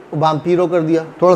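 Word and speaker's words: vampiro: इधर बाम्पीरो, बाम्पीरो, बाम्पीरो क्या है, वैम्पायर। अब देखें कितना आसान है, वैम्पायर को बाम्पीरो कर दिया, थोड़ा सा प्रोनाउंसिएशन डिफरेंट कर दिया, थोड़ी सी स्पेलिंग डिफरेंट कर दी, बाम्पीरो।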